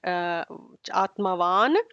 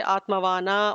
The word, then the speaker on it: Atmavan: left it off at Atmavan, but we cannot say Atmavana or anything like that. Therefore, the N will be extend a little bit more in order to cover for the missing half a syllable.